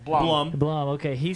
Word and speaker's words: Blum: Is it Bloom or Blum? Either way. Blum.